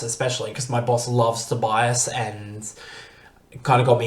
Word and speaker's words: Tobiahs: Tobias is his name. It's spelled Tobiahs.